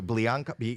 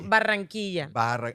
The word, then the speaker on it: Barranquilla: Blianca? No, Barranquilla. With two fucking, Rs.